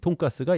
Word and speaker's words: 돈가스: 그래서 돈 커틀릿이었는데 돈 커틀릿을 일본 사람이 발음을 어떻게 읽겠습니까? 네, 돈가스리스 뭐 이렇게 하다가 리스는 빼고 돈가스 이렇게 된 겁니다.